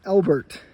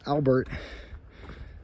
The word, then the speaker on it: Elbert: mispronouncing this entire time it's Elbert not Albert so it's Mount Elbert